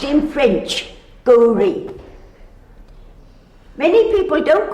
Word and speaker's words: Gauri: The AU should Like be pronounced in French, Gauri. Many people don't call her Gauri, you know. They have Gauri. What do you call her, Laurie? I call her Gauri.